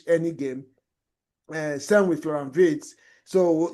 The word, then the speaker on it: Wirtz: Same with Florian Wirtz.